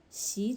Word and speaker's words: 洗: So 吸 and 洗 are same letters but different tones. 吸水 first tone, 洗澡 second tone, and then third tone.